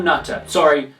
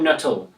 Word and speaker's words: Nuttall: A man named Paul Nutter. Paul Nuttall. N-U-T-T-A-L. Slip of the tongue, my apologies.